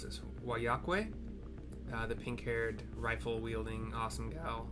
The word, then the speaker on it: Wayakkwe: to us by I can never pronounce this, Wayakkwe, the pink-haired, rifle-wielding, awesome gal. I think she's twins. She's one of twins. I don't remember. Wayakkwe. W-A-Y-A-K-K-W-E.